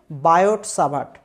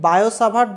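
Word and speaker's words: Biot–Savart: নিয়ে, তার নাম হচ্ছে বায়ট সাভার্ট। অ্যাকচুয়ালি বায়ো সাভার্ট বলা হয়, বইতে লেখাটা হচ্ছে বায়ট টি রয়েছে ওখানে, একটা টি এর উচ্চারণটা হয় না, বায়োসাভার্ট তার নাম, ঠিক আছে?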